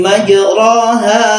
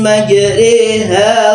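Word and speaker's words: مجريها: Ada lafaz bismillahi majroha wa mursaha. Dikira betul ro difath itu ro padahal itu bacanya imalah. Mestinya dibaca e re. Iya. Bismillahi majriha wa mursaha gitu.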